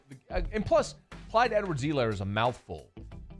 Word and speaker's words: Clyde Edwards-Helaire: That's what I used to do when I called and plus, Clyde Edwards-Helaire is a mouthful.